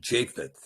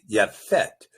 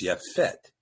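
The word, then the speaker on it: Yapheth: So going back again, you might have read this as Shem Ham and Japheth. Uh but of course that ignores the at the beginning of the word Ham. So it's Shem and Yafett. There was no J in the language. So the name is Yafett.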